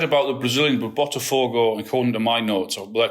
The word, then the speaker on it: Botafogo: Botafogo. What's the pronunciation of that? Botafogo. Botafogo. There you go. Said it perfectly.